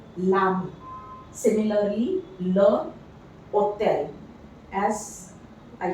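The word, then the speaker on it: l'ami: For example, le, ami becomes lami. The E we have to replace with an apostrophe. So this becomes lami.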